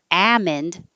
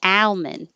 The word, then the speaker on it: almond: or without the l almond or with the l almond but the dictionary had a ammond and almond so those are possible i just i've never heard them myself compassionately compassionately this is